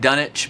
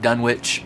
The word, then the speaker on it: Dunwich: UK they call it dunich but here in the US most people call it Dunwich the W is pronounced so I'm going to